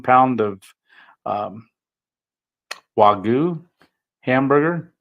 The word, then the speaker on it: Wagyu: And just blessed me with 2 ribeyes, 1 pound of regular hamburger, 1 pound of um, Wagyu hamburger, Wagyu, I said it right, Wagyu, and a dozen of eggs, brown eggs from his chickens.